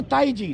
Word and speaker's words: tai chi: इस तरह करो, लिखने में ताई ची होता है, वैसे प्रोनाउंसिएट करते हैं सब इसको ताई जी, ताई जी, ताई जी, ताई जी।